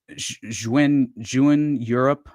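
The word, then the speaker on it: Jeune Europe: And uh and and so this party was s which uh succeeded to um basically um this this Juan Europe I believe is is how you pronounced it.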